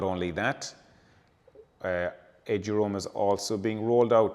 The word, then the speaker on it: eduroam: The Wi-Fi is called EduRoam. It's 2 syllables, and it's short for educational roaming.